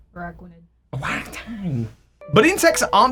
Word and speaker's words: Araquanid: It's hanging out with the likes of Ariados and Galvantula, and the Pokemon I always mispronounce, Aquarachnid. Wait, was that right? Araquanid.